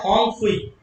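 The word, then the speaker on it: Phawngpui: होंग फुई. P silent है.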